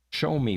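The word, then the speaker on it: Xiaomi: Um, this is a Show Me brand, and that's how you pronounce X I A O M I.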